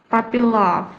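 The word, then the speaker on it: puppy love: Papy love. Pupy love. Ini un-nya dibaca a teman-teman.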